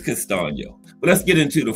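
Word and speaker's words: Castaño: I looked it up on that uh pronunciation app. It's Castio.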